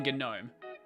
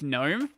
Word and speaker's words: GNOME: I started with PopOS because I like KDE Plasma more than GNOME.